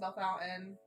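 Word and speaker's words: Bellefontaine: Born and raised in Bell Fountain, so lame town. Bell Fountain, that's in Ohio, right? Okay. Yep, Bell Fountain, Ohio. It's spelled like Belly Fontaine. It's spelled weird, but Meredith is 4.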